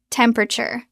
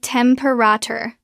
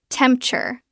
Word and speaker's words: temperature: It looks like temperator. Four syllables. Natural pronunciation. We usually drop the second e. It becomes temperator. three syllables or sometimes even shorter temperature two syllables. Let's practice the three syllable version which is very clear and common.